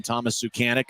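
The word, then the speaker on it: Suchánek: Tulsa here so far I've heard multiple ways to say his name the San Diego ghouls the team he previously was with um pronounced his name Thomas zanic and so that's what we're going to go with here tonight so tuls has outshot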